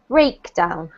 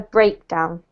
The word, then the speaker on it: breakdown: pronounced it correctly but the emphasis should be on the first syllable so a high stress breakdown yeah so less emphasis on this one more on this one okay a breakdown yeah that's because we've